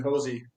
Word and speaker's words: Hoese: I pronounced it right is it hosy or Hoy or how do you pronounce your last name uh the first pronunciation hosy hosy is one sorry sorry for that